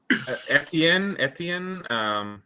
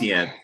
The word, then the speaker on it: Etienne: Etienne. Yeah. I know I'm saying it wrong on purpose. ETN.